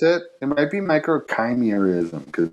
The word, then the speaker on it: microchimerism: it it might be microchimerism because it's felt like chimera yeah they say like the root word comes from chimera but i i've always